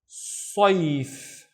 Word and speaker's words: صيف: Again, the whole word is only one syllable, and it's saif. Saif. We need to pronounce the ya, guys, don't forget, with no vowels.